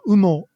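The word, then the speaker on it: 羽: So, for example, down, like feathers, as in like your down blanket, is called umo in Japanese. So that uses the kanji for feather or wing, and it's pronounced u.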